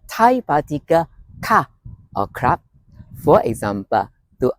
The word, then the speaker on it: ค่ะ: Note that in this case, ka is pronounced with a falling tone. Ka, as you are making a statement, although it is best translated as a question in English.